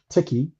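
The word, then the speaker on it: Tichi: appropriation yeah um but i named it tiki t-i-c-h-i so if you spell the word t-e-c-h you come up with tick so you still pronounce it tiki and it's a ticky form but it's it's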